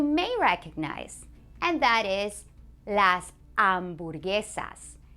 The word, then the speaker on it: las hamburguesas: Here's another word that you may recognize, and that is las hamburguesas. Las hamburguesas. You try. That's right. Remember that H is silent.